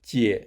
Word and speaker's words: 姊: The pronunciation of 姐 is similar to the first syllable of "jealous."